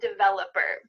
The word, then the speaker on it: developer: I'm a web developer. Make sure that when you pronounce this, that Developer V has some vibration here.